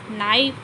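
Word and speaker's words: knife: है ना बहुत ही तेज धारदार होती हैं नाइफ एंड जब स्पेलिंग ऑफ नाइस एंड के एन वाय पी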